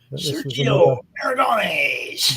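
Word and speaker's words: Sergio Aragonés: This is Serigo Aragonis Funnies. I can't pronounce that name too well. Sergio Aragonis. That's the one.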